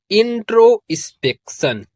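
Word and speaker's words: introspection: तो मिलाकर इसको पढ़ेंगे इंट्रोस्पेक्शन।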